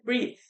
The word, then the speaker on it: breathe: Com a letra E, breathe.